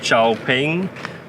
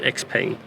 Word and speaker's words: XPENG: X I know that it's really called chiao ping but uh for me here in Sweden I I like just the word how you say it X pain I was uh a